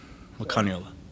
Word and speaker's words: Makane'ole: Pronounce it for us. So it's Makane'ole. Makane'ole.